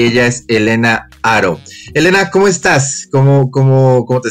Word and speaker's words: Haro: No sé por qué aquí en México todo el mundo lo pronuncia Haro. No sé si es porque, no sé si imitáis un poco la fonética americana. En Estados Unidos sí que me llaman Helena Haro, pero no, es Haro.